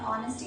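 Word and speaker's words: honest: जैसे हमने ऑनेस्टी देखा, ऑनेस्टी एच से स्टार्ट हो रहा है लेकिन वो साइलेंट है ना, तो वो ओ से हो रहा है, तो ओ जो है एक वॉवल हुआ, तो दैट इज एन ऑनेस्ट।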